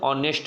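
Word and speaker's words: honest: जैसे हॉनेस्ट, ठीक है ना, हॉनेस्ट सब लोग पढ़ते हैं, पर यहाँ पर हॉनेस्ट ना होकर ऑनेस्ट रहेगा, ठीक है ना।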